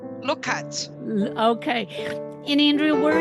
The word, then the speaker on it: Lukac: Did I pronounce that right? Lukac.